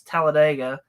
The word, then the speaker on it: Talladega: I'm sure you know how to correctly pronounce Talladega like dig a hole oh gosh that drives